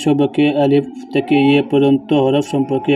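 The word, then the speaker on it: ألف: আলিফ বা আলিফ যখন বলবেন, আলিফটা আপনার দ্রুত বলবেন, তাড়াতাড়ি বলবেন, কেননা আলিফ লম্বা হয় না, আলিফ কাটো হয়।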